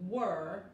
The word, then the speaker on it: were: We are, or en presente, we were, en pasado, we were. En vez de they are, they were. Esta E al final es muda, tiene que pronunciar la R de inglés.